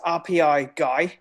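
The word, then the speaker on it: RPi-GUI: gluey what it's certainly it's technically pronounced rpi guy so like if you think about like like you know like like raspberry pi right yeah you guys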